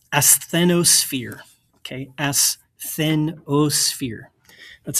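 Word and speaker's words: asthenosphere: So this is pronounced athenosphere.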